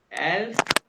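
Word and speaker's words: elf: good good अब ये देखो 11 को कैसे प्रोनाउंस करेंगे एल्फ इसका मतलब मुझे लगा तुम दोनों को ये काउंट पहले आते देख ऐसे ही है ना जी सर हां देखा ना एलफ 11 आ गया और ये भी एस के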